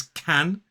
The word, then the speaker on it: can: two words so so as a strong form this word is can as a weak form can and in the negative it's can't can can can't can can can't so the vowel sounds are a a three different vowel sounds which will help you